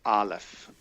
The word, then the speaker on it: aleph: In Hebrew, both words start with aleph. Or is light, avir is air, and I use yellow for that, the third primary color. Aleph is a silent letter, and by going back